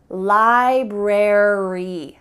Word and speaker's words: library: indicate that in American English, we're going to pronounce the full word library.